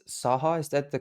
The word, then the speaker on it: SAHA: It's SAHA, is that the correct pronunciation? Yeah, SAHA, SAHA.